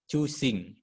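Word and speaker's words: 中心: cubu bukan cupu cubu cusing n di belakang dibaca Eng kosakata bahasa Jepang ya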